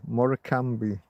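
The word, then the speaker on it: Morecambe: You got to spell it like more. M O R E C A M B E. Morami, if you if you will, or Morami.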